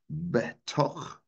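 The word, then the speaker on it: בתוך: And that word is pronounced betoch.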